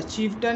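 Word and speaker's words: chieftain: इसमें ए आई आ रहा है, लेकिन ए आई का उच्चारण क्या है, छोटा आ के रूप में हो रहा है।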